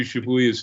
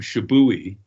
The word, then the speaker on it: Shibuya: And he would like intentionally mispronounce, like he couldn't pronounce Kenji Shibuya's name. So for months he kept calling him Shibui.